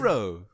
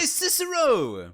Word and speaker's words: Cicero: I don't know how you say his name ciso no way Cicero right finally you exactly he was the Mad